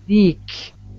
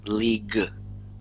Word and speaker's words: league: Leak. No, sorry. No. The leak is bad. Don't say the leak. You want to say league. G. Leak. League. There you go.